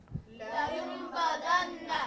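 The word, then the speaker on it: لَيُنْبَذَنَّ: Is la, not li. Okay, let's do it. لينبذن. Okay, good. One more time. لينبذن.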